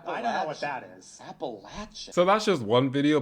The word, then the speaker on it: Appalachia: dedicated to this fight how do you say appalachi I say appalachi but there's more than three ways to say it apparently it just depends where you live in the region all right that's going